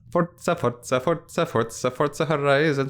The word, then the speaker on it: Forza: I mean, if it's Italian pronunciation, it would be Forza. Because the sounds more sophisticated to say Forza. Yeah, it does. And I think you need the double Z for Forza, like pizza or piazza.